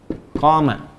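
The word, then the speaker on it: قام: koma. Ya kan? Koma. Ya, bukan titik. Dan koma, panjang bacanya.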